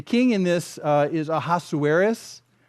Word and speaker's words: Ahasuerus: in this uh is ahasuerus ahasuerus that was five syllables I can't do that